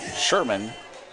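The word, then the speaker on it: Scheuermann: u ER M a in in but his pronounced Sherman as I was told earlier she stands the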